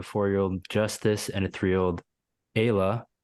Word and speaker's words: Ayla: You have a 13-year-old daughter named Lizzie, a 4-year-old Justise, and a 3-year-old Ayla, pronounced Kayla, you clarified here.